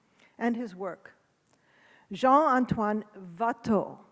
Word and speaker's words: Watteau: his work Jean antoan vat and I'm saying vat because that's the way Philip de montebella pronounces it it's been a lot